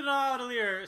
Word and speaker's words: Nidavellir: Nidavellir. It's Nordic. Nidavellir. Fucking Nordic. Okay. So we're going to Nidavellir so he can forge himself a new weapon with which to kill Thanos.